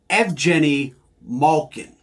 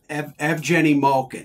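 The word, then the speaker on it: Evgeni Malkin: gets it twice because in Russia he is F Jenny Malkin that's how you pronounce it in his native tongue yes EV Jenny Malkin yes oh so we're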